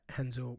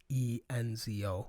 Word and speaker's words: Renzo: It's Renzo. Okay. Gracie. R's in Portuguese. Mhm. Portuguese is pronounced H. And all the Gracies are named with an R at the, Hobson, Hickson. Those are all R's.